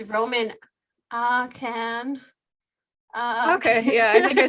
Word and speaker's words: Ahcan: I just don't want to say his name wrong. Okay, it's Roman Akan.